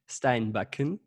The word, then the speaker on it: Steinbakken: your last name because I didn't want to pronounce it it's wrong how do you say it Steinbeck yeah okay cool when I